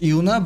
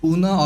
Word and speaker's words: Yuna: I know it is pronounced Yuna, but sometimes I pronounce it Una or Yuna.